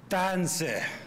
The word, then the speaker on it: Tanse: make sure you know how to really pronounce the T in Tanse. That it's not sharp, you drag it. So I want everybody to say Tanse.